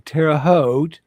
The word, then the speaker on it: Terre Haute: So sometime, maybe in Terre Haute. Rhymes with boat.